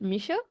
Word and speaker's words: Michaud: I start recording but is your last name pronounced misho misho yeah okay perfect so